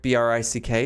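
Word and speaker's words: Bryk: named brick but it's not spelled like brick b-r-i-c-k it's spelled b-r-y-k it's brick it's a homophone don't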